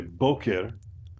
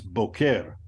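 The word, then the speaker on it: בוקר: notice by the way I didn't say Boker morning it's bokeir the emphasis is on the last level all right syllable uh you have a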